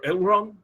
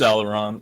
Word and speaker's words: Aleron: And last, and of course not least, we have, and tell me if I'm pronouncing this correctly, Aleron or Elron? It's Aleron.